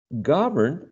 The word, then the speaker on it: govern: govern and uh govern is stress in the first syllable govern and the second